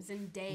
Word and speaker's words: Zendaya: Pronounce her name. Zendaya.